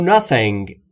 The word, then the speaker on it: nothing: I know nothing. Nothing یعنی هیچ چیز. تلفظ TH هم اگر دقت بکنید، زبون پشت دندونهای بالا سعی میکنید بگید سمیه.